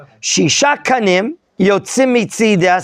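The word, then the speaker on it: מצדה: There's a nekuda inside the hay. It's reflexive. Mitzidah miatzad shelah.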